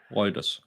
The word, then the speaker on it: Reuters: It's on routers, how do you say it? Reuters.